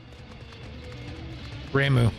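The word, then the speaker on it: Ramuh: from um gordanya is i want to call him rank but i feel like i'm missing a syllable in there that is a nice one too ramu that's it that's it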